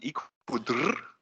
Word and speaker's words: eco-DRR: And maybe you can give us, I read about EbA, I read about ecosystem-based disaster risk reduction, how do you pronounce it? Eco-DRR?